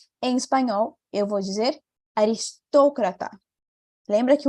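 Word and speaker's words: aristócrata: ser em português e vai ser aqui na sílabas que eu coloquei em então em espanhol eu vou dizer aristocratar lembra que o outro fechadinho não era estoqueta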